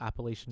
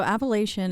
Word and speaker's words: Appalachian: So Appalachian is how they say it here, Uh-huh. but in the Appalachian Mountains, we Appalachian. would say Appalachian.